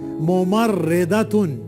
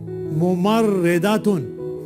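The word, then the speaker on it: مُمَرِّضَةٌ: हैं मुहदिसुन मोम रेदुन इसको देखें मीम के ऊपर दम्मा दूसरे मीम के ऊपर फतहा फिर रा के ऊपर श्दा उसके नीचे कसरा दाद के ऊपर फतहा और आखिर में राउंड था जो फेमिनिन की पहचान है उसके ऊपर तनवीन दोद्मा कैसे पढ़ेंगे मोमर रेदुन मोमर रेदुन डियर स्टूडेंट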